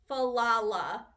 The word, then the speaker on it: Falala: Falala is how you say her name.